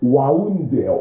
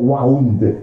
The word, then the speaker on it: wound: wound, 이거 wound 아니에요. 부상이 있다의 wound 발음이 아니죠. 이거 뭐의 과거형이야? wind. 감다의 과거형. 발음이 뭐야? 와운드예요. 와운드.